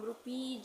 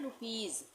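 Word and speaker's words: rupees: ये क्या है रुपीज इसको हम रुपीज नहीं पढ़ते हैं इसको हम पढ़ते हैं रुपीज ज तो ज के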